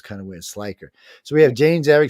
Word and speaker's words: Schleicher: here um man wait how do you say your last name look like say it again sler sler okay sler because I got a